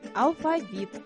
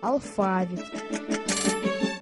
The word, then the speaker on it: алфавит: правильно проверьте себя Подумайте как правильно сказать алфавит или алфавит наша учительница говорит Дети запомните надо произносить алфавит А я слышал алфавит две первые буквы латинского